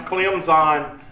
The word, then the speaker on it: Clemson: You got to pronounce Clemson with a Z, because if you don't, you're a dumb racist Southerner.